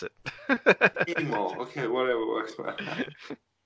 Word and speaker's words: Timo: Timo. Yeah. Because that's how I'll pronounce it. Timo. Okay. Whatever works. South Americans, they usually say Timo.